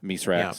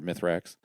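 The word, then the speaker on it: Mithrax: with mythrax where it's it's actually misra or mythrax um okay but she's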